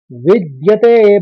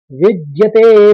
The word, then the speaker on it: विद्यते: आराम से पढ़ लेंगे विद आपको पहले विद आघात लेना है द का फिर व्यते करना है विद्यते फिर भाव